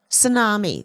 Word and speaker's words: tsunami: the K is silent tsunami the t is silent psychology the p is